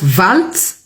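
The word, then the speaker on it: Waltz: J'appelle je prononce valt parce que ça peut être prononcé valt tout comme ça peut être prononcé W.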